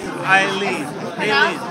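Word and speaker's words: Aileen: Eileen. It's pronounced Eileen, but it's Eileen. Spelled with an A.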